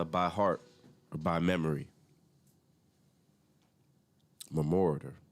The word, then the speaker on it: memoriter: Memoriter. I think that's how you say it.